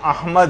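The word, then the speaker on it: أحمد: یہ نام آیا ہے۔ یعنی صحیح تلفظ ہے، الف پر زبر ہے، ہا جو ہے وہ ساکن ہے، میم کے اوپر زبر ہے، اور دال جو ہے وہ ساکن، احمد۔ تو بعض اوقات اس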